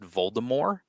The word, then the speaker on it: Voldemort: know it's actually pronounced Voldemort yeah I knew that there's no T at the end of it there's no T pronunciation